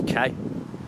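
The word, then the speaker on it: Kei: me the pronunciation is K it's spelled Kai k-e-i because he told me it's pronounced K so I like to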